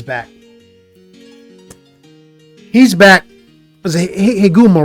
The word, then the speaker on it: Higuma: It's Higuma. Higuma. I want to say it right. Yeah, it's Higuma.